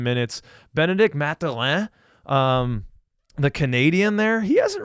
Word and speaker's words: Mathurin: I pronounce it the Canadian way, Mathurin.